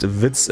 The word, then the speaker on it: Witz: Context, Witz in German spelled W-I-T-Z or Z means joke, so yeah, it's pronounced Witz as well.